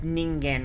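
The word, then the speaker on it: 人間: My man literally said Ningen with the hard G.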